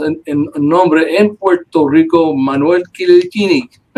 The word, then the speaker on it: Manuel: My name is Manuel Quilichini.